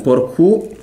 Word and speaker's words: Porcu: Derby vediamo un po' porcu porcu Infatti Porcu di nuovo con l'accento sulla in realtà è Porcu ripetiamolo potrebbe essere l'uomo